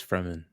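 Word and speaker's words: Fremen: And it's like, "Oh, no. It's it's Fman." I've been saying Ferman before the today and then I saw it was spelled with the the R was in the wrong place.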